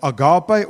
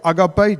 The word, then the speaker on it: agape: uh agape or agape just as you want to pronounce it and it means unconditional there's no conditions.